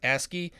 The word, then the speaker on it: ASCII: now we're going to go back and enter asky capable by the way ASCII is pronounced asky it stands for the American Standard code for